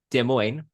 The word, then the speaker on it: Des Moines: I live in Des Moines. It's actually Mm-hmm. pronounced the French way. Well, then a comedian had like pointed out, I visit Des Moines.